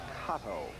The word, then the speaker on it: Cotto: They pronounce that Cotto.